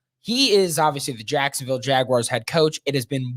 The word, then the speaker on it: Jaguars: tweeting whatever you're doing with this podcast the pronunciation is jaguars jaguars not jag wires i heard it today on a podcast actually